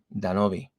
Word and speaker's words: Danoby: Most Americans, gringos, they just say Danoby or Danoby, but my name is really meant to be pronounced Danoby.